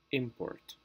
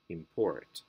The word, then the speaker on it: import: give to this word if we are using this word as a noun the pronunciation normally goes on the first syllable import but if it's a